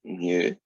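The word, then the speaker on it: mu: average edge we use the greek letter that looks like that you pronounce it new and that is the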